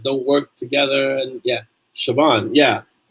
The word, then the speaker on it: Siobhan: So it's like Shaban. It's spelled Siobahn or something like that.